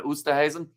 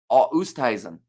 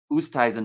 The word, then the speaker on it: Oosthuizen: It's around Oosterhuizen. Not Oosterhuizen. So, Oosthuizen. Oosthuizen. No ER in there.